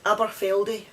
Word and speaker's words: Aberfeldy: a's i picked this one for you it's aberfeldy a-b-e-r-f-e-l-d-y and that's in perth and kinross something